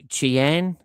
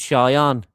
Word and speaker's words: Cheyenne: I think it's pronounced Cheyenne rather than Chien. I'm sure it's Cheyenne.